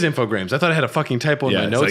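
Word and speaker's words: Infogrames: I know I I I been pronounced it all the time infog gra it is infograms I thought I had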